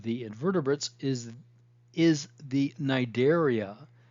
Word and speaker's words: Cnidaria: invertebrates is is the nidaria the C is silent nidaria so the major cell